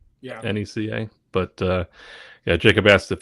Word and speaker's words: NECA: Am I pronouncing that right? Yeah. NECA.